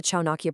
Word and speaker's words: ChaanAİkya: We're kicking things off with the very first explainer for the Chaakia project. And hey, right off the bat, it's pronounced just like Chanake.